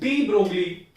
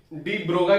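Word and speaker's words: de Broglie: ठीक है, तो इसको बेसिकली डी ब्रोगाई पढ़ते हैं। ब्रोगली ये एक स्पेलिंग है, लेकिन इसको प्रोनाउंस करते हैं डी ब्रोगाई।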